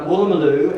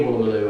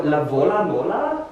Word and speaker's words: Woolloomooloo: and I lived near Woolloomooloo, and a German tourist came up to me and he said, excuse me, I'm looking for La Vola Mola, which is how he pronounced it, and that was